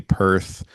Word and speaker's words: Perth: There's all there's all kinds of like inside meanings too that I was reading about where apparently Perth which rhymes with birth and then you go